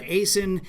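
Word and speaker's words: Acyn: on acen's page that's at a y a c n rhymes with jason on twitter so uh aysin and aaron rupar are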